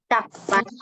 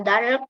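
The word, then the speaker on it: 닭: Kalau ada riel sama giok, yang dibaca hanya gioknya saja. Jadi dibacanya dak. Jadi bukan dark, L-nya tidak ikut ya. Dak saja.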